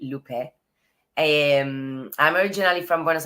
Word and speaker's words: Lupe: you for having me my name is pronounced l Lup not lupy Lupe and I'm originally from